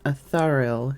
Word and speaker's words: Atharil: No, we have Athena, Thena, and then Atharil, who is pronounced in a similar cadence as Athena.